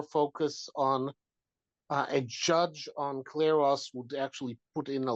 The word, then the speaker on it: Kleros: would be a terrific Kleros judge. What kind of judge? You say Claros judge. It's spelled Kleros.